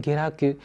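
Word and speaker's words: 下落: 这个下落呢，在这里念成 geragu。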